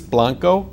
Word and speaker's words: Blanco: Bruce Blanco, did I say that name right?